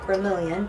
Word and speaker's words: Gremillion: Gremillion is spelled G-R-E-M-I-L-L-I-O-N, like Gremillion, but it's pronounced Gremillion.